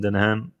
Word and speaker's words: Denholm: bunch of directors, including Elon himself and Robin Denholm. Mm-hmm. That's how you pronounce the last name.